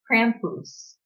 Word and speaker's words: Krampus: the mom's side and she was saying is pronounced Krampus and Krampus actually eats naughty children Oh God eats them